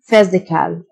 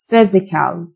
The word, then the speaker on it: physical: psychological mental mental جسماني physical الPH تنطق فيه physical مكافأة reward reward honor